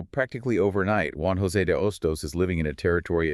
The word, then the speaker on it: Hostos: You add a single silent letter to the front of your name. It doesn't even change the pronunciation.